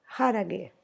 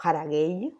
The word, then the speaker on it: haragei: El concepto en particular se llama harage. Antes de explicarte el concepto de harage, o haragei, como se escribe, haragei, todo lo que te